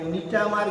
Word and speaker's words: Gnetum: তারপরে king crab, স্ফেনোডন, তারপরে নিটামার গিঙ্গোবাইলোবা।